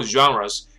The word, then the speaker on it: genre: whose groundbreaking films are highly acclaimed, spanning multiple genres throughout his producing, writing, and directing career。所以这是 BAFTA